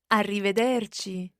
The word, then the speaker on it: arrivederci: it is arrivederci francesca let's hear the proper pronunciation of this arrivederci kitty and this literally means until we see